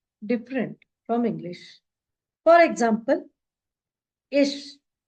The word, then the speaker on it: ich: For example, ish. Many Indian learners, they will say ik, but that is wrong. It should be ish, I. That soft sound should be there.